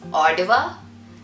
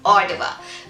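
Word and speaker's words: Ottawa: understanding i think it's odawa they like to call it with a d sound so yeah the capital city of canada is odawa which is located in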